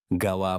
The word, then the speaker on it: Гала: Он произносит его с ударением на последнем слоге. «Гала» по-французски – праздник.